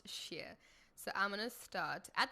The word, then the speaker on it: shire: add share so it's s-h-i-r-e a lot of people say shire it's actually pronounced sheer so i'm gonna start